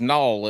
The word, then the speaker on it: Nall: pronounce your name but me being country n-a-l is null it needs to have a w in there somewhere yeah I pronounce that